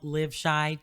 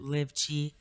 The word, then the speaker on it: LiveChi: And you can definitely check out our YouTube channel, Live Shy TV, or some people pronounce it Live Chi. Live Shy, like Chicago.